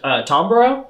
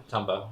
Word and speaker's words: Tombo: Like when it's later with Tombro. Is that how you pronounce his name? Tombo.